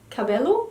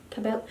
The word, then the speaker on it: Cabello: this is the Camila Cabello cup Cobell house is pronounced Cabello Camila Cabello back a bit